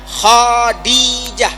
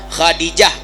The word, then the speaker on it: Khadijah: Yang salah adalah mengucapkan "Khadijah" dengan penekanan yang berbeda ; seharusnya Khadijah, Khadijah , Khadijah.